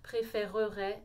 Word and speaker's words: préférerait: comme préféré ou améliorer fait bien l'effort de dire la syllabe supplémentaires préférerait améliorerait même si ça vous paraît long c'est la façon correcte et comme ça par